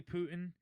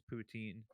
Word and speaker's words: poutine: In America, So it's poutine. Also, it's not. Yeah. I've never heard yeah. anybody call it Putin. I Putin is the I've leader of Russia. heard I've heard one person say Putin, but I thought they were joking around.